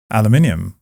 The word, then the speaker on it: aluminium: The second one was aluminium versus aluminum.